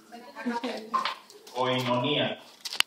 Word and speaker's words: koinonía: Koinonía. Se escribe con K, oinonía.